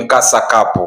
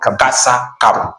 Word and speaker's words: Kasa Cup: daraja la kwanza ni kasa cupu kwa hiyo tukikuwa tunatamka tutamke kwa matamshi jinsi ilivyotamkwa kasa cup tusiongeze mambo mengine. tukiongeza mambo mengine tunaharibu lakini naimani kwamba wanasoka